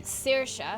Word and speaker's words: Saoirse: Sorsha was a name that we were throwing around as possibly being a name for Zoe. Saoirse. Saoirse. Yeah, Saoirse. which is like spelled Like different. an It's Irish, yeah, yeah. it's an Irish name.